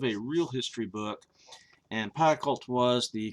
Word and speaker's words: Pacult: I think I'm saying his name right, Pacult. I watched a couple of reviews, and that seems to be how people are pronouncing it, Pacult.